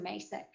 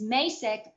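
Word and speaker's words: Macek: in calling him uh mr masak and i'll never forget because i wasn't sure exactly how to pronounce his name and he said it's masic like spacek so that's how i that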